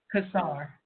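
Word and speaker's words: Cossar: Kazar, yeah.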